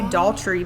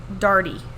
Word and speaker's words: Daugherty: jennifer i can't ever i want to say adultery but that's not how you say it like a daughter dardy i believe that's how you say her last name we're going to call